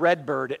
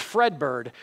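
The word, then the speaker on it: Fredbird: wrong in first service I said Redbird it's Fred bird Fred bird was at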